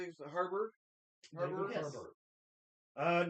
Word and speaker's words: Harbour: Harbour.